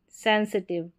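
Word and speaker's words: sensitive: यहां पर पैसिव, फेस्टिव, सेंसिटिव, digestive, defective. यहां पर सभी में आई वी ई है। तो यहां पर आई वी ई में आई का उच्चारण इ करके होगा ना कि आई।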